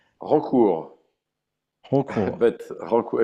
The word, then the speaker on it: Rancourt: How do you pronounce his name correctly? Rancourt, Holcool.